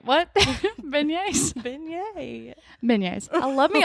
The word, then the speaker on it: beignet: a good burger funnel cakes love me some bayonet is that who say beignet bayonet is a